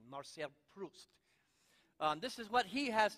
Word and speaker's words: Marcel Proust: new spirit Marcel Proust I have to pronounce it like a Frenchman marceia Proust this is what he